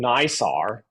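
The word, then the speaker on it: NISAR: are building together and that one is called nysar it's spelled n-i-s-a-r and you can look it up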